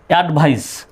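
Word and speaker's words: advice: অ্যাডভাইস, এখানেও সির পরে ই আসছে, সুতরাং সির উচ্চারণ তখন তো স্বর মতো হবে।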